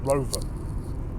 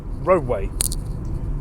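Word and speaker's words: Roewe: does exist just not it's not pronounced Rover it's roadway which in China any mg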